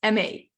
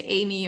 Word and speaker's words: Aimee: It's pronounced like the word amazing, and it's like the first part, Aimee.